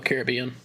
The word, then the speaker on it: Caribbean: the pirates of the Caribbean. Mhm. Did I say it right for you, Suggs? No. Caribbean. I died. I knew it. I I knew I was unless it's the Caribbean.